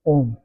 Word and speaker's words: Om: When we pronounce Om, that contains three letters, A, U and Ma. So when we say it A, U and Ma together, it becomes Om.